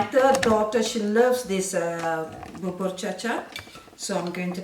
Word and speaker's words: Bubur Cha Cha: Baba Gucci. Say it properly. You're making up, isn't it? What's the name of this dessert? Your favorite. I'm going to mention it many times. Baba Gook.